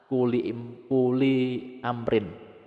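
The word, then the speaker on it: كلِّ أمرٍ: ngawiti utawa memulai kawitane kuli amrin. Nah ini hasilnya kulu amrin. Tapi kita baca kuli amrin karena ini jumlah idhofah. Ini mudhof ilaih lah. Ibtida'u kuli amrin. Nah, bacanya seperti itu ya, kuli amrin.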